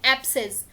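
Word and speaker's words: abscess: इसका प्रोनाउंसिएशन होता है एब्सेस।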